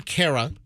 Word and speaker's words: Cara: Actor and singer Irene Cara. I've heard some people pronounce it Cara. Okay. Also, so over the years, I've heard some in the business say it's not Cara, although most people say Cara.